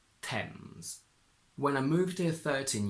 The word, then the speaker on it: Thames: It's completely irregular. It's not Thames, it's not Tames, Thems, it's Tems.